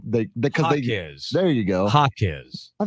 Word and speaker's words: Jaquez: Well, Mexico threw a curveball and decided that J was going to be pronounced like ha. That's more of a knuckleball. That is a knuckleball. It's a Charlie Huff special. A Mexican knuckleball. So it's Jaime Jaquez.